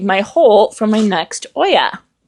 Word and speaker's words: olla: hole for my next Oya Oya is spelled o l l a and so I keep wanting to call it ola but it's not Ola it's Oya okay so now I'll get